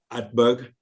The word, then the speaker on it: Utberg: joined by a guest his name is hatberg welcome uh thank you and uh thank you for pronouncing my name right not everybody does uh